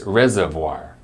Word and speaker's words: reservoir: for hundreds of years you can remember the pronunciation of this word by recalling its purpose it reserves vast amounts of water for people to use later are you ready to hear what it sounds like it's reservoir reservoir Reservoir in the